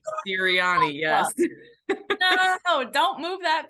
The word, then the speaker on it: Sirianni: Sirianni. Sirianni, yes.